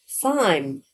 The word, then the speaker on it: thyme: Is it like pronounced like time like that? Time. Thyme.